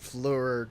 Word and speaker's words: Flair: I love the underlying thread of Richard Fleur doesn't Is like. it Fleur? It's hard to pronounce. Flair? Flair? Flair.